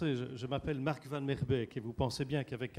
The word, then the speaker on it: Vanmeerbeek: Je vous le reprononce, je m'appelle Marc Van Merbeek et vous pensez bien qu'avec un patronyme comme ça, je ne suis pas le régional de l'étape.